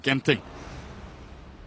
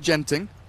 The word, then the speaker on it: Genting: ESL 1 Genting. If you're wondering, in Singapore they pronounce it Genting, which is bad and wrong. In Malaysia, Genting.